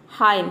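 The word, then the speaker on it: hymn: example देख लेते हैं हाइम हाइम मतलब होता है भजन यहां पे देखिए हाइम एम एन एक साथ आया है तो यहां पे एन साइलेंट है डम मतलब होता है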